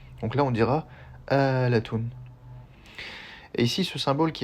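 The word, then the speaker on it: آلاتٌ: Donc ce mot se prononce bien Alatun.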